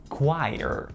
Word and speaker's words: choir: Обратите внимание на произношение супер крутого и занимательного слова хор, choir. Don't underneath my choir robe. Кто бы мог подумать, что его написание так сильно отличается от произношения.